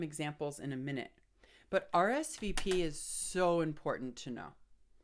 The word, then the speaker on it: RSVP: interesting about RSVP is it's not pronounced as a word it's pronounced as an acronym or an abbreviation so we always say